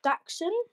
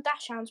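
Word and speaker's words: dachshund: people usually call them Dash hands but they're called daxon because they're ger they used to be German hunting dogs and um Reggie is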